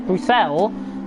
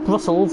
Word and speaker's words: Bruxelles: the run down towards Bruxelles, which is the right pronunciation I've known for that corner, not Brussels as I like to call it, but Casper 1.2 seconds